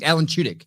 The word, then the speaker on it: Alan Tudyk: Oh my gosh, Alan Tudyk. How do you say his name? Alan Tudyk.